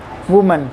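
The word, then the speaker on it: women: है वह मन ए वूमेन फिर human पढेंगे अ कि मुझे नेक्स्ट अप्रूवल के लिए यूज करते हैं इससे ज्यादा महिलाएं इसके पड़ेगा अब भी मिल ऊ थे विमेन इसको विमिन पड़ते हैं इसको वूमन भी नहीं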